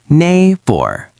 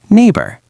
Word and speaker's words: neighbor: The heavy stress is also on the first part. Neighbor. Neighbor. Correct. And remember, the letters G and H in the middle are completely silent. Oh, English is so crazy. Why are there silent letters? I ask myself that question every day, Ben. Just pretend the G and H are not even there.